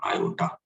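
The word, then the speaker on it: iota: और इसी को हम लोग बोलते हैं आई, प्रोनाउंस करते हैं इसको आयोटा, है ना।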